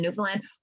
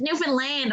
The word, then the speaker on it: Newfoundland: I'm like, how would you fucking know that it's Newfoundland if you're not from Newfoundland? Yes, it's spelled land, but Finland is spelled Finland, and you don't say Finland. So why would anybody think it's Newfoundland?